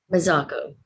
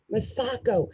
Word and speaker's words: Mazzocco: so excited that we have is it massive how do you say your last name mazako masako masako is here with us today and